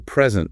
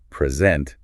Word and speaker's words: present: If you stress the first syllable, present, it means a gift. But if you stress the second syllable, present, it means to show something.